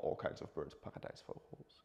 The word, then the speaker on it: paradijsvogel: all kinds of birds paradijsvogels. It's like. It's also, how do you say that? Like a paradise bird. How do you say that? Paradijsvogel. Paradijsvogel. Vogel. Did I say it correctly? Yes.